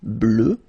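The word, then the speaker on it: bleue: the end okay fanatically it doesn't exist because you don't pronounce it so you get blue as you would get for the masculine form okay but still you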